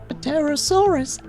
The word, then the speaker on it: Pterosaurs: You know, I never liked that we gave dinosaurs names with PT, but we are not pronouncing the P. Pterosaurs are actually flying reptiles and not classified as dinosaurs.